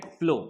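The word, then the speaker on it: plough: को हम कहते हैं प्लो पी एल ओ यू जी एच ठीक है तो यहां पर ये कुछ लेटर साइलेंट होते हैं और इसे पढ़ते हैं प्लो सो फार्मर विल नॉट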